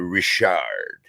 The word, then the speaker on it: Richard: them have gone and that's the original French pronunciation of it but so I move